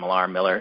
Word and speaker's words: Millar: I pronounce it Miller, either way.